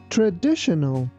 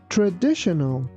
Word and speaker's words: traditional: Traditional, traditional, traditional. Adjective. When something is traditional, it is based on old-fashioned ideas. I prefer traditional furniture. Here be careful that T-I-O-N is pronounced like shin.